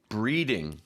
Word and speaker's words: breeding: point out is pronunciation so in Korea a lot of people get the r sound and L sounds confused sure never confuse breeding with bleeding that's they're very different very very different yes just give us